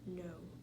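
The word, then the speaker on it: know: one is irregular because the k is silent so it sounds like you skip the k and you go straight to the n so it's no and this just makes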